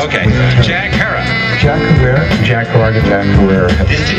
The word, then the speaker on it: Herer: His name is often mispronounced. Jack Herrera. Have I pronounced it correctly, Jack? He likes to say it rhymes. Okay. Jack Herrera.